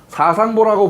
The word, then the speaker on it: 사상보: 사상보라고 불렀습니다. 여기서 요 보자는 아버지 부자가 아니고 보라고 읽어야 됩니다.